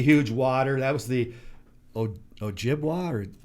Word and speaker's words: Ojibwe: That was the Ojibwa, or how do you pronounce that? Ojibwe.